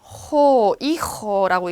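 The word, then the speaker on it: hijo: 자, H는 소리가 안 나요. 이호라고 읽죠.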